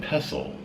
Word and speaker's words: pestle: pestle PST le and the T is silent this is made of